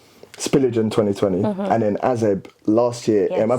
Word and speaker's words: AZEB: spillage in 2020 and then azeb last year am i pronouncing that right yes okay i wanted to